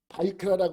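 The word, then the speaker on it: ויקרא: 보면 바이크라라고 그러는데 여러분 한 장 더 넘기면 이 히브리어는 왼쪽에서 오른쪽으로 읽잖아요.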